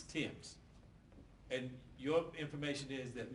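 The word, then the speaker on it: Thames: h a m s it's pronounced Tims Tims and your information is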